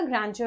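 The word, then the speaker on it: grandeur: तो मैग्निफिसेंस का जो मीनिंग होता है वो आपका जाएगा ग्रैंडियर वर्ड के साथ। आई थिंक ये वर्ड भी आप प्रोनाउंस करना सीख लीजिएगा, इसका प्रोनाउंसिएशन होगा ग्रैंडियर, ग्रैंडियर, इट्स नॉट ग्रैंडियर, इट इज ग्रैंडियर।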